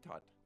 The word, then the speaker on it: Tut: Well, for one, his name rhymes with butt. I don't care. I'm gonna have a big, fat Egyptian wedding. Spoiler alert, King Tut dies young.